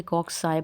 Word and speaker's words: cocci: पढ़ते हैं, और कॉक्साई ये आपने याद रखना है कि कॉक्साई पढ़ा जाता है। अक्सर लोग कोकाई कह रहे होते हैं, कॉक्साई जैसे आपको ये प्रोनाउंसिएशन नज़र भी आ रही है।